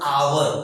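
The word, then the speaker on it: hour: आवर, देखिए यहाँ पर कॉन्सोनेंट वर्ड लिखा हुआ एच, लेकिन इसका उच्चारण आवर ओ से होता है, तो इसीलिए इसके पहले एन का प्रयोग किया गया।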